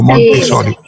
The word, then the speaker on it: Montessori: anterior que tuvo María Montessori, mírenme si estoy pronunciando bien el apellido, Sí, Monte, doctor. como Montessori.